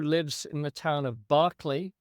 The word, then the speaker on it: Berkeley: The story concerns a woman who lives in the town of Barkley. In English, it's spelled Berkeley, but in English, it's pronounced Barkley.